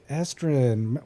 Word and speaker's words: Estrin: And welcome Estrin. Is that how you pronounce that name? Yeah. Yep. Estrin.